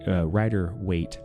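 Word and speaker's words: Rider-Waite: other decks around me I have a traditional ryer weight Tarot deck which the ryer weight ryer weight Tarot deck is the is the way it's pronounced is the oldest not the oldest there's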